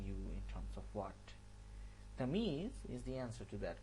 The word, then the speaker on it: Tamyeez: Better get the pronunciation right. It's Tamyeez, not Tamyeez. It's Tamyeez.